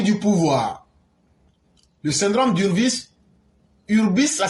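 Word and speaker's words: hubris: Le syndrome d'Urbis, Urbis, ça s'écrit H-U-B-R-I-S.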